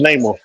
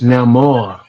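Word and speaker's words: Namor: The first character to fly was Neymar. The first one The first character to fly was Neymar.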